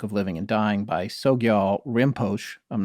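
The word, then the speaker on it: Sogyal Rinpoche: the tibetan book of living and dying by sogyal rimpoche i'm not sure if i'm saying his name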